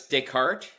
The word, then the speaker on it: Descartes: Yeah, it's Decart. It is a uh Canadian firm and so you've got that French pronunciation.